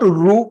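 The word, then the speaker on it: ऋ: yes this is Ru North Indians pronounce this alphabet as r that is wrong it can be right in Hindi re in Hindi fine but as far as SRAM is concerned it is uru so for example the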